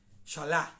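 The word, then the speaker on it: Beshalach: Entonces, nuestra parashá que nos corresponde el día de hoy es la parashá Shalá. Se escribe Beshalá, pero se pronuncia solamente Shalá. Como la Shalá, como la B no tiene mucha pronunciación.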